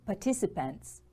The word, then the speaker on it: participant: Now you can see participants. A participant is a noun. It is a person who takes part in an activity. Participant. Stress is on the second syllable.